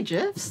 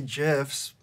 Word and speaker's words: GIF: You say GIFs? Get. I say GIFs because I say it correctly. Yeah, I know. The creator said it was GIFs, and I had to say, you know what? I'm going to do it the way the creator wanted.